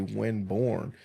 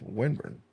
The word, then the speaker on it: Winburn: it was supposed to be Winborn, right? And then when they came and asked us what the census guys, they were like, it's Winburn. Oh.